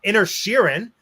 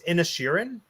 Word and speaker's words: Inisherin: tribute to Ireland, let's talk about Banshees of Inisherin. That name, it shouldn't be so hard to pronounce, but it is. And how do you say it? One more I think time. it's Inisherin.